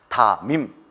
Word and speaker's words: 담임: 하셨는데 이것을 어떻게 될까요 많은 사람들이 다님이라고 발언하는데 이렇게 하면 안 되고 미움이 이리로 올라가서 다 밈이라고 발음을 해 줘야 되는 것입니다 다밈 발음이 좀 어렵죠 그